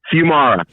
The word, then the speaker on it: Fuimara: hear the wise words how do you say your last name first before i kiss your ass fumira few mara if people want to hear the wise words of brett fumara how can they check